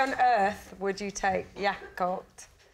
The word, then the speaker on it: Jakob: please team why on Earth would you take yakob y yob yakob yob yob it's spelled into a cinema Jacob but pronounced yob